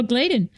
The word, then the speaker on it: Gladen: been uh 15 years I've been pronouncing your name your last name wrong that's all right so gladen um so his acting